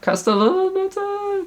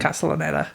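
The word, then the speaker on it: Castellaneta: obviously like the juggernauts like um Dan Cast Castella Castella. I can't pronounce his name. Castonetta.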